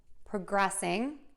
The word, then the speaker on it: progressing: syllable, and then still stress syllable number two and end with shun when we see those two S's there. Okay, let's give it a try. So we have progress, progress, progressing, progressed, progression, progress, progress, progressing, progressed, progression.